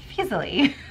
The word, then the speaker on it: Feasley: and in quotations writes, it rhymes with easily. So her name is Paula Emmons Feasley.